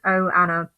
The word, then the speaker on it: Ohana: how it said that it's pronounced oh Anna oh Anna but I I think they had it pronounced like Hannah or something like that but um